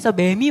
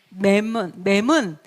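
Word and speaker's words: מם: 자, 맴을 보시면 40번이고 미음 발음 M 발음이고요.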